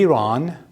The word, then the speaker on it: Iran: So I want to get the pronunciation correctly. So it's going to be Iran.